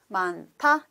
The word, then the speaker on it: 많다: And that means aspiration. You can feel more wind from your mouth. So 타, 많다 is the right pronunciation.